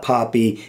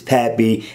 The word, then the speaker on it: Pappy: by developer Nate Pappy I've been calling his name wrong it's not poppy it's Pappy and I'm telling you